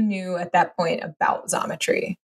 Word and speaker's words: Xometry: But getting your take on Xometry, X, pronounced like a Z, was helpful because some